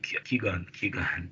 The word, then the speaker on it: Qui-Gon: And then there was a whole like setup where Obi-Wan and how do you pronounce the name? Qui-Gon.